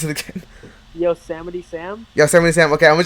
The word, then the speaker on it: Yosemite Sam: sam that's it yeah him just how you pronounce it again yosemite sam yeah sam okay i'm going to just say